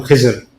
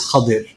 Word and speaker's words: Khadir: that journey, where Khidr, Urdu speakers, South Asians, we call him Khizr, right? The correct pronunciation in most of us is Khadir. Khidr or Khadir, right? So I'll pronounce it Khadir.